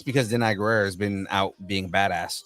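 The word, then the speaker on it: Danai Gurira: Denai Guerrera, yeah.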